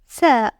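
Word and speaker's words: ثاء: The third one is Thaa. Place 3 dots above it. It is pronounced like the TH sound in think. In short, the tip of your tongue is between your teeth when you pronounce it.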